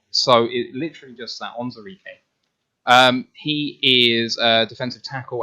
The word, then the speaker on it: Onwuzurike: this guy's name is take the woo out of his name and then say exactly what's there. Onwuzurike. It should be harder, but it's not. So it literally just that Onwuzurike.